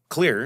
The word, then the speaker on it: Xlear: Yeah, but so the question of how I ended up starting this company is clear, and it's spelled Xlear.